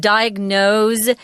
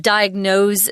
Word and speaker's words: diagnose: wanted to mention that diagnose here is pronounced with a Z although they spell it with an S diagnose something but the the